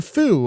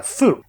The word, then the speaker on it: Fu: And it's this new character, Fu, or Few, perhaps.